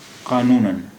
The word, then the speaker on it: قانوناً: قانون قانون میں جب الف اور دو زبر جڑ گئے تو یہ ہو گیا قانوناً.